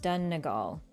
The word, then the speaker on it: Donegal: It's pronounced Donegal. I knew I screwed it up. Donegal?